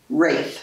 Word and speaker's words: Ralph: And Martha Ann Rafe, who was my grandmother, George's wife. Right. It's spelled Ralph, but pronounced Rafe. It's the Old English thing. It's very important to her to pronounce it Rafe.